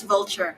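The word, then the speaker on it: Vultr: I don't know if everyone pronounces it like vulture but v what do you oh yeah okay that's vulture yes yeah so like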